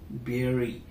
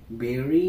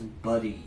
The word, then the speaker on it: bury: which is spelled as b u r y which is pronounced as the same berry berry means to put something